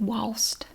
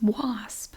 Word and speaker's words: wasp: especially the older Generations they pronounce it walst I don't know why there's a t on the end of it was it's wasp but they say was and I say was